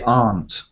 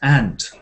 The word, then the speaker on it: aunt: a few different ranges so I say aren't but as I said before there is um an American homophone with the insect ant it's not quite a